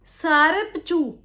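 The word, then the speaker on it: Tsarap Chu: सारपचू सारपचू यह इसके स्पेलिंग होते हैं टी एस ए आर ए पी सी एच यू टी जो है साइलेंट है जब हम बोलते हैं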